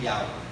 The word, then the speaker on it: Yahweh: El nombre, ¿verdad?, del creador del universo, cuya pronunciación es Yahweh.